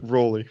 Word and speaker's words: Rowley: he did but hey it's Jeff Riley it's all good Rowley sorry definitely Rowley everyone's been wrong for years yeah I'll continue to